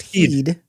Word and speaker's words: Head: he's brought in Talia spelled head but pronounced heed.